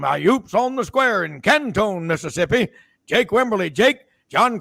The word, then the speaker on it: Canton: Hey, by the way, do you call it I call it Canton, Mississippi. Jack called it Cantone. How do you pronounce it Cantone out of respect to the great Jack Crystal? Never have. It's always been Canton for me.